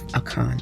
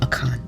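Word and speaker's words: Achan: And it's pronounced A W K A W N.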